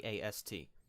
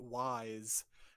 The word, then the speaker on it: Ys: East as an No, EAST? no, it's spelled YS. So a lot Oh. of people would be forgiven for pronouncing it Wise as the title of the game series, but Yus. it's East.